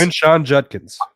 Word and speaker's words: Quinshon Judkins: Quinshon Judkins.